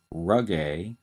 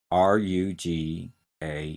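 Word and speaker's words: rugae: more straightforward anatomical terms the first one is rug a r u g a e and the rug a are folds in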